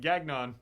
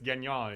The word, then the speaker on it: Gagnon: That we're pronouncing their name correct, because I remember, like, in the beginning, it's like Ruth Gagnon. It's like, no, it's Gagnon. It's, it's of French descent.